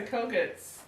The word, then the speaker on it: Kogut: I put Teresa Kogut's. Kogut? Did I say it right? I'm Kogut, so yes.